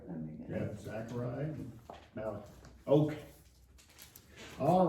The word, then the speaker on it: Zechariah: Zechariah or Zachariah? However you want to pronounce it. No, there's one Zechariah and Zachariah. They're two similar names. Oh, it's Zechariah.